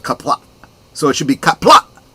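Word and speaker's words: Qapla': There is a glottal stop at the end of kapla, so it should be kapla, not kapla.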